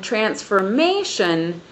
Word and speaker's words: transformation: On transformation, we have the stress on the third syllable once again.